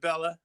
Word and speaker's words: Bella: guests I've got is it pronounced Bela orbea uh yeah it's BAE yeah but they are Bella's cool I can live with Bela I mean I I